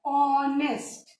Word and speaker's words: honest: अब देखो, ऑनेस्ट की स्पेलिंग एच से है, which is a consonant, but इसमें साउंड कौन सा आ रहा है? वावल का साउंड आ रहा है, ऑनेस्ट है ना, ओ।